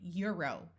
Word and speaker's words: Euro: In these words, it uses the U sound, like in Euro, Europe. Notice this O is not long.